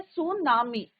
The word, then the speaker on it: tsunami: कौन सा वर्ड है टी is your silent T क्या रहता है बच्चों यहां पे साइलेंट रहता है और इस इट्स प्रोनंसिएशन क्या होता है सुनामी क्लियर सु मींस हार्बर